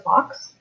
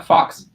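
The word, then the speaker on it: Fawkes: like it is that this is called a fox yeah fox f-a-w-k-e-s well i apparently don't know how to read because when i read the book i pronounced it way differently well it is a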